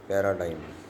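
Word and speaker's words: paradigm: आता आपण शब्द वाचूया पॅराडाईम डायफ्रॉम प्लेम फरीन या प्रत्येक शब्दामध्ये जी अक्षर आहे परंतु या जी अक्षराचा उच्चार होत नाही तरी सुद्धा जी अक्षर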